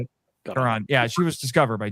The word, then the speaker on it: Caron: Caron.